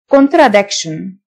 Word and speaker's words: contradiction: تناقض contrast contrast contradiction TION تنطق شن contradiction deference deference اتفاق agreement